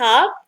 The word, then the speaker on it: hab: لما بتتكلم سريع بنحذف حرف الايه في تصريفات الافعال مع البيرسونال برونوم.